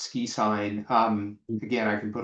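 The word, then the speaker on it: SQIsign: So, it's SQI pronounced ski sign.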